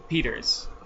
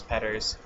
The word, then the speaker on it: Petters: my name's Petters, they'll be like Peters. And I'm like, no, it's Petters.